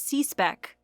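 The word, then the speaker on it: C/SCSC: and control specification and generally pronounced as see spec was tested in 1965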